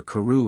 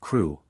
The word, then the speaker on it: Crewe: Madame Pascal pronounced it as if it were Carew instead of Crewe, but that might be merely a matter of pronunciation.